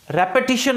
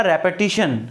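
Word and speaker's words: repetition: किससे बचने के लिए, रेपिटेशन ऑफ नाउन। किससे बचने के लिए, रेपिटेशन। प्रोनाउंसिएशन होगा रेपिटेशन, रिपीटेशन नहीं। कई लोग कह देते हैं रिपीटेशन, रिपीट से रिपीट, ऐसा नहीं।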